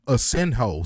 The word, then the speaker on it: Asenjo: Look, I found out you pronounce her name Asenjo. So I would have been right by saying Asenjo, but Gabriela Fundora defeated Daniela Asenjo via 10-round unanimous decision.